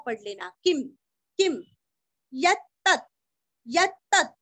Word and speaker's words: यत्तत्: यत्तत्, यत्तत्, य के ऊपर आघात, दो त का उच्चार अच्छे से करके आधा त, यत्तत् यत्तत्।